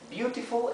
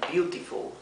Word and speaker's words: beautiful: En inglés británico lo pronunciarían beautiful, beautiful. La T se pronuncia más claramente. Y en inglés americano se pronunciaría beautiful. ¿Sí? La T esta se pronuncia más parecido a una R.